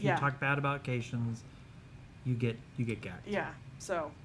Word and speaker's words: Caitian: Actually, I think it was either Discovery Season 2 or it was Picard that somebody pronounces his race, and it's Caitian, like Haitian.